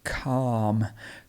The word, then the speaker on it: calm: nice and easy but this one is difficult because it has the silent l in the middle this is a silent l and it's calm calm imagine that that l is an r it's a calm